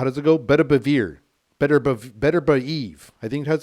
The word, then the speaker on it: Beterbiev: Beterbiev.